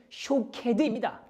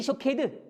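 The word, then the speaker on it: שוקד: 그런데 놀랍게도 오늘 이 성경절에 함께 등장하는 이 지켜본다, 깨어나다라는 이 뜻을 가진 히브리어는 쇼케드입니다. 마치 이런 거죠. 쉐케드, 쇼케드 이런 겁니다.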